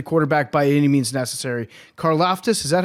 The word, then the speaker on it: Karlaftis: Karlaftis, is that how you say his name? The Greek freak? Karlaftis, yeah, he's Greek, yeah.